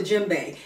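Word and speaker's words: djembe: West Africa I'm going to start with the jimbe jimbe is spelled DJ e m b e jimbe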